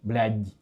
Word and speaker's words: блядь: Russian language has the letter which means soft. Oh yeah. There's like a soft, мягкий знак, like soft syllable. Like it's you say the Dmitry, but D. Yeah. If you say блядь in the end D, and then the regular D is like the Dmitry.